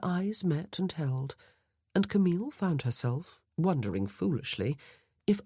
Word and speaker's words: Camille: He gave her name its proper French pronunciation, eel at the end instead of ill as her family tended to do.